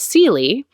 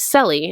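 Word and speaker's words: Celie: how you say that the main character her name is Seeley and I really thought through the whole book that it was silly and I thought what a kind of interesting name I've never heard that before and I don't know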